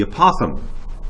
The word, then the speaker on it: apothem: sure you differentiate from the apothem that's how you pronounce that strange word not a possum that's an animal this is a Popham